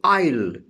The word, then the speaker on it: aisle: In aisle, A-I-S-L-E, aisle, aisle, S is silent.